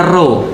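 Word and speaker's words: Ρ: Nah, jadi XP itu kalau XP bacanya dalam bahasa Yunani, X itu bacanya chi, P itu bacanya ro.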